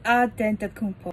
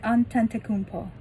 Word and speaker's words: Antetokounmpo: 文字。In the Nigerian way, you gotta say it with a D, so it's Antetokounmpo. But in the Greek way, you say it with an NT, like Antetokounmpo.